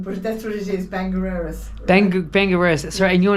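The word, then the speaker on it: Bangor Erris: Bangor Eris. Huh? Bangor Eris. But it's spelt B-A-G-O-R.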